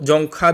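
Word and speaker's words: Dzongkha: है गोरख ठीक है इसको जौंखा भी बोल सकते हैं या जोर का भी ठीक है क्योंकि यहां पर ये जो है ये साइलेंट है तो इस तरह से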